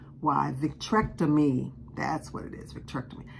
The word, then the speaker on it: vitrectomy: is called victron tonomy v ah the spelling VI t r e c t o m y I'm not a doctor so I cannot pronounce all these but I did have this